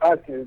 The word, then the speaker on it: Acre: It's a place called Acre.